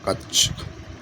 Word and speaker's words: कक्षा: अगला प्रश्न, कक्षा शब्द का शुद्ध उच्चारण। कक्षा, कच्छ, कक्षा, कक्षा। तो ये शुद्ध उच्चारण, क्योंकि छा जो बनता है वो किसके मिलते, किस किस से मिल के बनता है, देखिए।